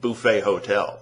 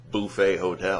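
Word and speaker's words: Buffet Hotel: made it the opening track on his album bouet hotel and I'm not mispronouncing that it is bouet hotel bouet hotel that's how it's pronounced um yeah make it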